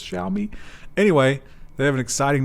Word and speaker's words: Xiaomi: was like um yeah they always correct our uh pronunciation of this xiaomi xiaomi xiaomi tell me i think it's what shall we we usually use as more of a z and we were corrected for that so i think it's